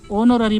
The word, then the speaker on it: honorary: ये देखो HONORARY, मतलब ऑनोररी, मतलब जो एच है ये इसमें साइलेंट है तो ऑनोररी पढ़ेंगे इसको।